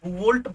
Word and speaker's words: Bouveault: Pronunciation is बुवोल्ट blank, BLANC, BOUVEAULT, बुवोल्ट blank reduction.